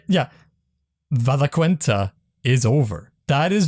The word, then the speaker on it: Valaquenta: And with that, what's it, Valinquenta? If I say it right, yeah, Valaquenta is over. That is Valaquenta.